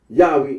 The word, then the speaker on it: Yahweh: that of those who regard this name as anciently pronounced Yahweh, like the Samaritans.